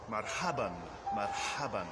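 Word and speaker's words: مرحبًا: Now, in Arabic, it goes marhaban, marhaban, which is generally translated as hello.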